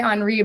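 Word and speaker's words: Henri: spirit um with Robert I always want to say enri but I heard he was an expat and he liked Henry so Robert Henry I think is how you say it um Richard Schmid's book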